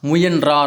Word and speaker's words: முயன்றார்: நம்ம வந்து பயன்படுத்தணும் அடுத்து முயற்சித்தார் அப்படிங்கறது பார்த்தீங்கன்னா சரியான முறை சரியான உச்சரிப்பு கிடையாது நம்ம பேச்சு வழக்குல பண்ணிட்டு இருக்கோம் ஆனா கரெக்ட்டான இது பார்த்தீங்க அப்படின்னா முயன்றார் அப்படின்னு சொல்லிட்டு வரணும் அடுத்து வண்ணத்தி பூச்சின்னா கிடையாது